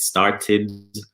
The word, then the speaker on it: started: the park when it started to rain well done guys and focus on pronunciation of started you pronounce the e it yeah start it started good and the last one